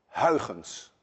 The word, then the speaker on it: Huygens: waves, as suggested by my countryman Huygens, which actually should be pronounced Huygens. None of you can say Huygens. And if any one of you can say Huygens, there is a 99.9% chance that you're Dutch.